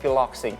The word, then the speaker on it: Piloxing: So can you explain to us what Piloxing? Do I? Yeah. Are we pronouncing it right?